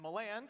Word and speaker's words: Miland: to you by aixr my name is Alex Miland that's how you pronounce that by the way Alex Miland you might